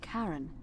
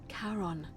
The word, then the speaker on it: Charon: It's just as you described it, only your pronunciation is a little off. The name you heard wasn't Karen. It was C-H-A-R-O-N, as in Charon, the ferryman of the dead.